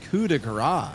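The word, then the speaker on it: coup de grâce: I know it doesn't look like it, but it's Coup De Grace, actually, is how you say that.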